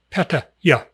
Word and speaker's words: Pattaya: Give it a little brief pause. Ya. Patta. Ya.